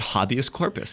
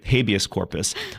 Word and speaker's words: habeas corpus: I remember the day I said habius corpus and people looked at me like, "Habius?" Like, isn't that how you say it? There's some things you got to mispronounce Anglicized Latin is apparently habeas corpus.